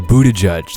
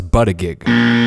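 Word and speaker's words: Buttigieg: video shall we Oh Buddha judge that's how you say it I thought it was but a geek so there's a petition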